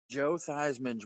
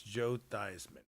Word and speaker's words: Joe Theismann: No, my point was earlier Joe Theismann's real name is not Joe Theismann.